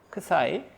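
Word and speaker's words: ξ: 방향, 이 방향을 아까 좌표를 크사이, 발음이 크사인 거죠. 크사이.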